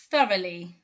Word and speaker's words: thoroughly: okay this is thoroughly thoroughly i'll break it down into syllables for you for ra lee thoroughly she always does her